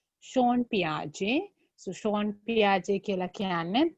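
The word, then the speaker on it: Jean Piaget: How to pronounce that? Sean Piaget. Yeah, Jean නෙමෙයි J තිබුණාට Sean. Sean Piaget.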